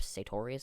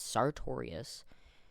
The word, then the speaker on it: Sartorius: I can never pronounce it. I always said Jacob Sartorius. It's Sartorius. Is beefing with Jojo Siwa.